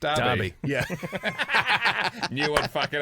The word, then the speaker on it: Derby: It's pronounced Derby.